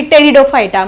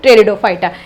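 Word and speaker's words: Pteridophyta: ते व्यवस्थित लिहायचं आहे कारण पी टेरिडोफायटा आपण म्हणताना टेरिडोफायटा म्हणतो पण लिहिताना टेरिडोफायटा टी एक्स्ट्रा झाला बघा इथे मग फर्स्ट पॉईंट मध्ये काय लिहिणार तुम्ही fun belongs to group टेरिडोफायटा ठीक आहे आता याच्यामध्ये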